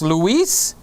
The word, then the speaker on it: Luis: camera junkie and louis so it's luis because that's kind of like the spanish way luis uh and lewis